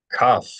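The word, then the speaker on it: קוף: Cuff, just a regular K sound like in the word cookie. I know we don't spell it with a K, but it's the K sound.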